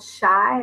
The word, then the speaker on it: Shye: I found a new app called Shy, I guess is how you say it. SHYE.